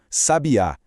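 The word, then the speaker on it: sabiá: Se a força tá na penúltima sílaba sem acento gráfico, a gente tem o verbo ele sabia. Mas se a gente joga um acento gráfico lá na última sílaba, pum, vira o pássaro, um substantivo, sabiar. E se a gente puxa esse acento pra primeira sílaba, criamos o adjetivo: uma mulher sábia.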